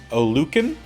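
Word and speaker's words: Oluokun: For the NFC, Olukin, I believe is how it's said, Queen, and then AFC is Vander Esch and Bobby.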